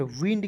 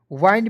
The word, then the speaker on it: wind: तो W का वह हो जाएगा, IND है तो इसका उच्चारण विंड के रूप में करेंगे, ठीक है। विंड, WIND, विंड। वाइंड भी बहुत लोग पढ़ लेते हैं, लेकिन विंड पढ़ना जो है सही है, ठीक है जी।